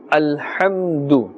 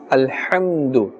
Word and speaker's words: الحمد: The ha, the makharaj is from the center of the throat. Alhamdu. Do not say alhamdu. Alhamdu, that is a different letter. Ha and ha. Ha is pronounced with a more heavy tone, and this is pronounced with a thinner tone.